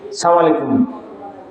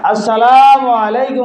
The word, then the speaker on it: আসসালামু আলাইকুম: সালাম দিছ এখন সালামের মধ্যে অনেকে সালাম আলাইকুম স্টাইল করে সালাম দে, আলিফ সারি দে সালাম আলাইকুম অর্থ হইলে তুমি মরি যাও নাউজুবিল্লাহ, বুঝলেন? সালাম আলাইকুম অর্থ সালাম দিতে হইলে আলিফ উচ্চারণ কইরা সালাম দিবা, আসসালামু আলাইকুম